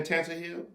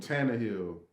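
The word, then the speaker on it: Tannehill: i do i do i really believe in tanzania say his name tanner hill what i just said tantra hill i said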